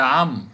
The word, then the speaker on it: عمرو: ذلك فيها ألف، عمرو، أيوة هذا، إله، أيوة الإجابة الصحيحة كلمة عمرو، لأن عمرو فيها حرف بكتبه، بكتبه ما بنطقه، ما بنطقه.